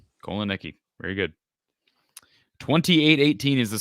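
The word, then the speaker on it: Kotelnicki: Andy Kolonicki. Kolonicki.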